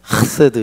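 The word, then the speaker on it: חסד: 돼 우리나라이 발음이 어때요이 여기 여기 목젖에서 올라오는 발음 그래서 우리 그때 히브리어 가르치던 교수님이 가래를 만들어 이래 된다서 안 돼 안 되 한국에는이 발음이 없어요 근데 하세드 이래야 된대요 근데 요거 요게 점이에요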